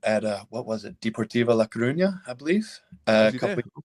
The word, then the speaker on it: La Coruña: And then at what was it, Deportivo La Coruña, I believe, a couple of there. And then well done. Yeah, nice good pronunciation.